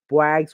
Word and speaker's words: Boags: It's Boags, one syllable.